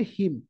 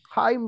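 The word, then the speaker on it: hymn: আমি কইতাম তার প্রোনাউন্সিয়েশন হচ্ছে হিম কিন্তু একচুয়াল প্রোনাউন্সিয়েশন হচ্ছে হিম ওকে সো হাইম গুড়া আমি হাইম বলে কইতাম এটা একচুয়ালি হিম প্রোনাউন্সিয়েশন ওকে এই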